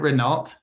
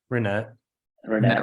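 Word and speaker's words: Ranette: Yeah, is it Renault? Is that how you say her name, or Renette? I can't remember. Renette. Renault is a car, isn't it?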